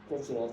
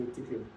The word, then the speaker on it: Tuchel: Touch, some would say Tuchel, whichever way you pronounce it.